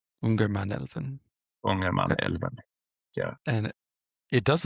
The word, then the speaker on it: Ångermanälven: In Swedish, Ångermanälven. Ångermanälven.